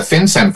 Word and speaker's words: FinCEN: The FinCEN Files, is that the how FinCEN it's pronounced?